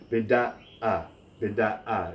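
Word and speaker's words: بدأ: Now the number 2 always represents that glottal stop in transliteration, so it's beda'a, as if it were two words. There's a break between the second and third syllable.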